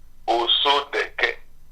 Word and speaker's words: Osodeke: The reason behind this reintroduction is for me to get the right pronunciation to your name, sir. Okay, my name is Osodeke.